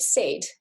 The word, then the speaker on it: said: sounds so for example in the word said the s represents the sound we expect it to the d does its job it represents the d the d sound it's the a i that's um an irregular part of the word down here and another